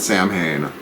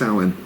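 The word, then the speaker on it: Samhain: is about the ancestors look it up s-a-m-h-a-i-n it is not Sam Hayne I promise you it's Owen Celtic nothing sounds like it's spelled and I'll take so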